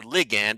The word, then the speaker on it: ligand: of the Posta neuron they're called liand or ligand I've heard it pronounced both ways I like Lian better